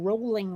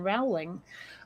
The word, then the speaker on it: Rowling: I ironically enough uh she pronounces her name rolling rather than Rowling um yeah I I